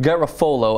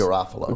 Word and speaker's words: Garofalo: Minnesota State Representative Pat Garofalo, I believe is how his name is pronounced. Garofalo. Garofalo, Janine Garofalo's cousin.